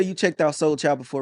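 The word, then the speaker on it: Sol Chyld: No, but I've seen that name before because when you said Soul Child, I'm like, oh, that's how that's pronounced. Because I've seen the name because it's like SOL and the child with the Y.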